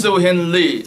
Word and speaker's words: Siu Hin Lee: afternoon good after everyone so my name is su Hindley and I even my name the how to pronounce su Hindi it's a caronia British colonial